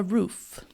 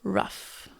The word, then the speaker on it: roof: E ele foi tentando explicar alguma coisa sobre a tela, a roof. Mas ele não foi pronunciando certo. Então ele falava rough. E ela não foi entendendo. Então ele fala rough.